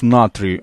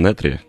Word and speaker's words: Натрий: Надо же с прононсом таким для важности произносить название. Но на самом деле такое произношение это как-то народ сам сделал. По идее, это, наверное, по правилам «Натрий». А, Натри, но да.